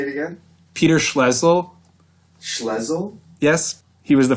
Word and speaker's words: Schlesinger: And this strategy was headed by Peter Schlesinger, the former president of... You got that name wrong, but it's fine. The former president of... Say it again? Peter Schlesinger.